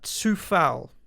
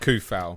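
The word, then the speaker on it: Coufal: czech republic and has told me that it's pronounced uh uh tsufal tusa instead of a c it's a sir so it's not khuffel oh no you're right he denied it yeah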